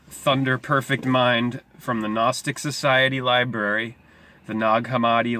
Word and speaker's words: gnostic: the gnostic Society library gnostic with the silent G like the silent K at the beginning of our word knowledge both meaning knowledge gnosis